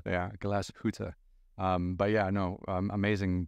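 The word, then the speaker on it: Glashütte: more time I love it glass H yeah glass huta um but yeah know amazing people to work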